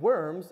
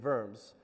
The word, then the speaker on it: Worms: correct me for that so when we get to what looks like Wittenberg and Wartburg and worms it's going to be Wittenberg and vortberg and verms and I'm not having a mental breakdown I promise that's actually how you're supposed to pronounce them okay papacy W's are